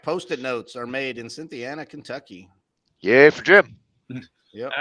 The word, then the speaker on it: Cynthiana: I have no clue Cynthiana is that what you guys how to pronounce this am I right on that cynthiana's right yeah okay you probably